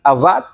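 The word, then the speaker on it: עבד: Itu sebabnya kita harus paham bahwa kata mengusahakan itu dari teks Ibrani avad, bacanya abad sih.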